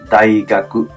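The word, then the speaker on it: 大学: धेरै ठुलो भन्ने अर्थमा लाग्छ है साई दाई दाई गाकु दाई गाकुमा पनि दाई भनेर यहाँ उच्चारण भयो दाई गाकु दाई गाकु विश्वविद्यालय दाई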